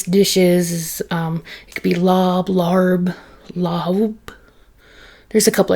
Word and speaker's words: larb: And lob can be pronounced a couple of different ways. If I'm understanding it correctly, in the actual Thai language, it's pronounced with like an HBP sound, so it's more of like lahab, lahab, lahab.